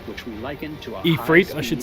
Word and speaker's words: Ifrit: experience which we liken to a Ifrit, I should say, considering how I've heard it pronounced.